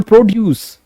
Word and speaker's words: produce: कि इन बाइसिलेबिक words, if that word is being used as in verb, the focus stress will be on the latter syllable, and if that bisyllabic word is being used as noun, the stress is on first syllable, right?